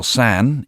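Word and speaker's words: さん: The title san in Japanese is pronounced just like the word sun.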